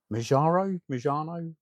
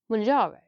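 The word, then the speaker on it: Mounjaro: actually get hold of Mojano? What are you going with? Manjaro, like Kilimanjaro, Because like the that's mountain. Yeah. Yeah, because that's how it's spelled.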